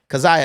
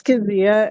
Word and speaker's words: Keziah: Keziah, is that how you pronounce your name? Okay. It's Kazia, and I'm in the Navy.